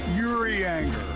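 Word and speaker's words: Urianger: It's pronounced like oo. Let the ooh sound glide like the whisper of a forgotten secret.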